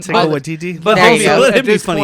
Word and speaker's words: Taika Waititi: Where's Tiki Watiki? I said his Well, name wrong. Taika Waititi.